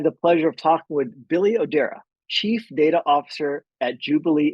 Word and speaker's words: Billy Odera: today I have the pleasure of talking with Billy odera Chief data officer at Jubilee Insurance did I pronounce that correctly Billy yes yes thank